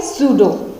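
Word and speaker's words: pseudo: अगला वर्ड क्या है, सूडो, ठीक है। पी साइलेंट करेंगे तो क्या बोलेंगे, सूडो।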